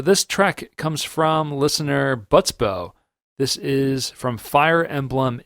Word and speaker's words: Butsbo: by Butsbo, Patreon member Butsbo. It could also be Le Butsbo. Yeah, Butsbo. I'm gonna go with Utsbo. The B is silent.